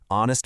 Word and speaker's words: honest: Now, look at the opposite, honest man. It starts with a consonant h, but that h is completely silent. The very first sound you hear is the o, a vowel sound.